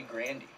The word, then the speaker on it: Grande: media he's probably ariana grande okay my boy that's how i say her name although i heard that it's actually granny granny yeah yeah that's how she pronounced it brandy phillips that's